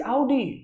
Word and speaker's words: Audi: बात कर रहा है, ऑडी ऑडी सिर्फ इंडिया वाला करता है, इट इज आउडी, ठीक है।